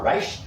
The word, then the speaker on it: Reich: I will link in our description to our podcast to an article by Robert Reich on how to. Is that how you say his name, Reich?